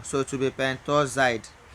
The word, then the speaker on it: pentoxide: So to be pentoxide. But in pronunciation, you can still say pentaoxide.